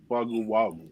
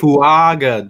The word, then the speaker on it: Fuaga: So Talise Wagu, right? Fuaga, bruh. Fuaga. You just add syllables in there.